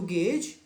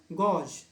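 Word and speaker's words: gauge: आगे देखिए बी, टू गेज। इसके प्रोनाउंसिएशन पे ध्यान देंगे। कुछ बच्चे इसे प्रोनाउंस करते हैं गॉज या गॉज, जो कि दोनों ही गलत हैं। इसका एक्चुअल प्रोनाउंसिएशन है गेज।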